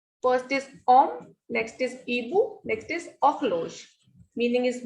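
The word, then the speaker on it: hibou: Next is ibu. We will not pronounce this H. So this is ibu, means owl.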